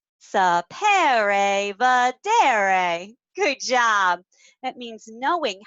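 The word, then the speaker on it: saper vedere: Okay, so this is a Latin word and it's pronounced sapere vedere. Sapere vedere.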